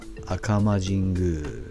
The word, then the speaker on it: 赤間神宮: À côté de Shunpanrō se trouve le sanctuaire d'Akama (prononcé Akama Jingu) qui surplombe la mer de Shimonoseki, avec ses bâtiments de sanctuaire rouge vif.